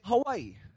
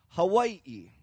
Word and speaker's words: Hawaii: when we say Hai is it wrong to say Hawaii Hawaii so the way that I learned it and the way that I share is neither are correct and neither are wrong again just like hoola